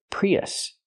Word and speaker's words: Prius: it's pronounced Toyota Prius use the short uh sound like cup and up us us not o but us relax us Prius we have two vowels we have the e sound like green beans plus the short uh sound like cup and up when we link these two vowels we hear YY in the middle PRI y Prius this is a Toyota